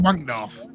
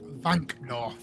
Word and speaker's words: Wankdorf: What, you want the Wankdorf? Yeah. It's not. It's actually pronounced Vankdorf.